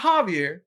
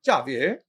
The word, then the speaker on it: Javier: Not Javier, but Javier. Yes, sir. Yes, sir. That's the correct way to say it.